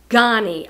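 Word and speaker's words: Ganni: But I sold this Ghani dress this year, G-A-N-N-I. It's pronounced Ghani.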